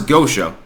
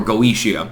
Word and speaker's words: Goetia: I would point out, if you look at the Ars Goetia, or Goetia, you can pronounce it either way, by the way.